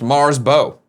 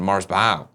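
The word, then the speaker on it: Marsbo: For future reference, my name is pronounced Mars Bo. That sounds like I nailed it. As in when you Oh, bow. As in when you bow to someone. Mars bow.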